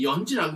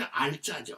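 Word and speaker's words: 閼氏: 근데 후유 소에 요거 이제 이게 연지라고 있는데 요거 원래 알자죠. 알자. 그 알씨. 그죠? 그런데 이걸 갖다 이제 연지로 읽어라. 그렇게 이제 하고 있습니다. 이게 연지라고 하는 것은 뭐냐면 이 흉노족의 황후를 연지라고 그 이제 호칭을 합니다.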